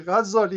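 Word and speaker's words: Ghazzali: Ghazali is being pronounced Ghazali, which a tashdid on Z. Ghazali is something else.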